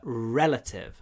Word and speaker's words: relative: Родственник – это relative. He is my last living relative. Ударение на первом слоге значит длинный р. Relative.